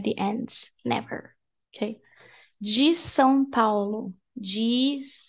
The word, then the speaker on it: São Paulo: So, that's the pronunciation. São. S-um. So, open your mouth. Say S. And then close your mouth and touch your lips. And do like S-um. Something. And just do this faster.